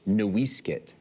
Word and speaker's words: NoiseCat: That was actually only because the missionaries wrote down our ancestral name, which is properly pronounced NoiseCat, the wrong way.